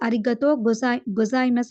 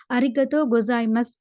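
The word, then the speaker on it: ありがとうございます: அதே மாதிரி பார்த்தீங்கன்னா சொன்னா லாஸ்ட்ல வந்து சூ லெட்டர் காணப்படுது. ஆனாலும் கூட நீங்க அத வந்து ரீட் பண்ண போக்கல, பேசுற நீங்க ப்ரொனவுன்ஸ் பண்ண போக்கல, அரிகத்தோ கொசாய்மஸ் அப்படின்னு வந்து ப்ரொனவுன்ஸ் பண்ண வேணும்.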